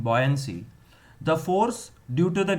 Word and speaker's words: buoyancy: Boy, girl and boy, boy આખો તો તમારું pronunciation ખરાબ નહીં થાય. Buoyancy નહીં, buoyancy.